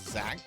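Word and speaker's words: Xak: There's a really good ease like game on the SNES called Zach. Um, which is based off of a much earlier Japanese computer game. It's spelled X AK.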